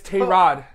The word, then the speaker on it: Tyrod: No, we were saying his name wrong apparently because he came out to the press. Yeah, that's so weird. It's Tyrod.